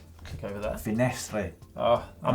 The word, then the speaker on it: Finestre: If you'd like to check out the epic climb of the Col de Finisterre, click over there. Finestre. Oh, I'm not French. Leave your comments about its pronunciation in the comments below.